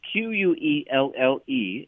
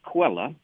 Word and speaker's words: Quelle: It's a German word, Quelle, and I think it's maybe pronounced Quella, and it means source.